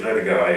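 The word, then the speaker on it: LoDagaa: How would your work have changed if, say, instead of going to the Lodaga, is that the way you pronounce it? Yes, Lodaga, yes.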